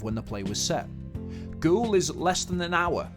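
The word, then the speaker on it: Goole: what about ghoul well ghoul is a market town in yorkshire ghoul is phonetically the same as ghoul a type of ghost and ghoul comes from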